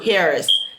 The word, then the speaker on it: Harris: And Kamala Harrison. Harris. I'm sorry.